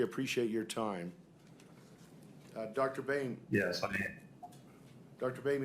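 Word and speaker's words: Boehme: Bame if you could state your full name and spell it please. Bane spelled B O I think that's B O E H M E.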